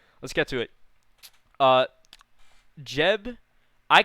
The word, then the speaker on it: Geb: Jeb. I call it Jeb. I've called it Jeb forever, but is it Geb because it's spelled G-E-B? But is it Geb or Jeb?